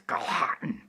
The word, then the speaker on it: Galhatan: Galhatan. Galhatan. You kind of have to dig into your throat and gurgle a little bit just to say his name.